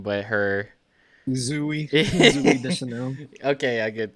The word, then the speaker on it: Zooey: Zooey. Zooey Okay, Deschanel. yeah, good. Thank you. It's probably Zoe. Is it? It's spelled with two O's though, right? Yeah, I know, but it's probably That's Zoe.